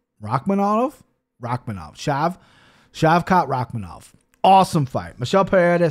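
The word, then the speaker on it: Shavkat Rakhmonov: talented i'm gonna have to learn how to pronounce his name shavkat rakhmanov rakhmanov rakhmanov shav shavkat rakhmanov awesome fight michelle pereira says excuse me plus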